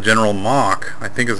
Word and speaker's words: Mohc: But what it really is, it's a character in the game called General Mohc, I think is how you pronounce it, M-O-H-C, in a special suit.